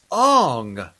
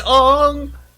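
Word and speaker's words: Aang: tell me your name it's aung are you sure it's on not although i think i think i read somewhere that actually in um chinese or tibetan or nepalese or something it is pronounced on yeah no no no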